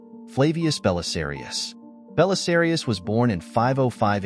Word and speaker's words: Belisarius: this era Flavius Belisarius his name in Latin is pronounced" Flavius Belisarius" Belisarius was born in